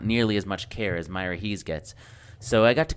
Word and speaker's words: Miraheze: the wiki farm that I was surprised to learn is pronounced Myra Hees I run my own Wiki Farm refera although with not nearly as much care as Myra Hees gets so I got